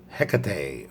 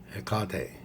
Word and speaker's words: Hecate: goddess or hecate or ecote i'll spell it out if you don't know what that is h e c a t e anyways the proper way to pronounce that in greek is no h oh and my favorite